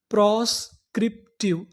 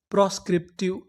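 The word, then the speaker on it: proscriptive: अगर आपको टी आई वी ई लिखा मिले तो उसे पढ़ते हैं ट्यू। तो हमारी पूरी मीनिंग क्या बनी? प्रोस्क्रिप्टिव। प्रोस्क्रिप्टिव।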